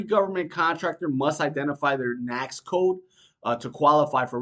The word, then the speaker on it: NAICS: going to get intool in Government Contracting is KNX code KNX code is short and I'm going to spell that out so you guys understand what it